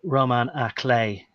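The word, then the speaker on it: roman à clef: So look, it reminded me of the French phrase Roman à clé, but I mean it was borrowed into English. Now you could, I think it's spelled Romain rather than Roman. But Roman à clé, and the clay is key.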